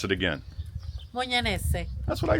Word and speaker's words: Mugnanesi: You pronounce it again. Mugnanesi.